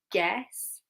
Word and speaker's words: guess: So some letters have a silent U, like guitar, guess, tongue. Okay, so U can be silent.